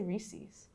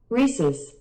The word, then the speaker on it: Reese's: reese's reeses i say reese's no that's the debate how do you say reese's it's not ies it's just es i say reese's no